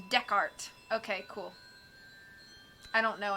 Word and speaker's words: Descartes: It's pronounced Descartes.